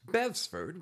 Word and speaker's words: Bestford: you that's right folks bevsford with a silent tee has expanded his business